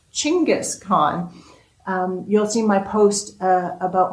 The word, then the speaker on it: Chinggis Khan: I used to call Genghis Khan, which I have learned now is actually pronounced Chinggis Khan, you'll see my post about my past life here.